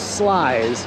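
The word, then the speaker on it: Sluys: All right, here's Slice.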